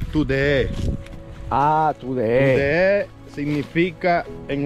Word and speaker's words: Trudillé: No se pronuncia Trudillé en sí en el idioma creol, sino tudeé.